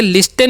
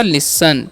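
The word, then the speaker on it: listen: टी ई एन है तो इसे लिस्टन नहीं पढ़ना है एल काचन क्या करना है ल आई का वचन हर्षी और यहां पर टी का वचन क्या करना है साइलेंट हो जाता है यहां पर ठीक है स हो जाएगा इसका का स और टी कान साइलेंट होता है तो हो गया इसका स और न है उसका अन तो हो गया लिसन ठीक है तो लिसन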